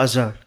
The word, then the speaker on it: Azhar: Do we say it Azhar? Yes, ma'am. Oh, did I say it right? Yeah, Azhar.